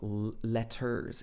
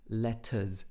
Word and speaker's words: letters: uh at the end it's not letters it's letters uh uh this schwa sound at the end so no one but